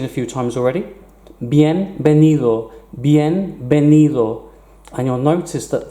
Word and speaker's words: bienvenido: few times already bienvenido bienvenido and you'll notice that the V is pronounced exactly like a bee bienvenido see you soon hasta